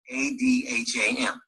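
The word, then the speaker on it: אדם: His name in Hebrew is pronounced Adam, Adham.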